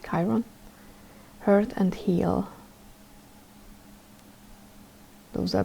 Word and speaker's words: Chiron: better okay it did chiron that's how you say it chiron hurt and heal those